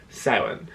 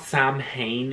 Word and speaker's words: Samhain: i just oh anyway so it's not samhain even though phonetically as an english speaker reading that you would think it's something it's actually seven and seven or halloween